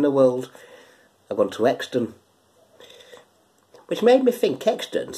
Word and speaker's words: Euxton: I will tell you it's a place called Exton which is spelled e-u-x-t-o-n okay so it's euxton but you're